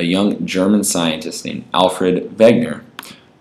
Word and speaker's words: Wegener: A young German scientist named Alfred Wegener, in German the W's are pronounced like V's, made a hypothesis of continental drift.